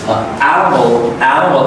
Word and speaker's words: animal: Here's animal A stretch, and I is reduced down here. It's an animal. O is at the end. It is the dark S sound, so it sounds like an animal. Imagine there's no I sound here in this. It's really reduced, very short sound.